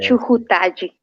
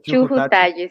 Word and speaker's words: Chujutalli: Sí, Chujutaji. Aí, Bom dia, Rafael. Sí, no, también la prueba no consiguieron pronunciar, no, así que tranquilo. Chujutaji. Seria Chujutaji, sí.